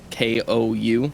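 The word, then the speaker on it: 紅: the word like for Scarlet, Cole, K-O-U, Cole. People would say pronounce it like it's a long O, but when you're actually speaking Japanese, you're saying Ko.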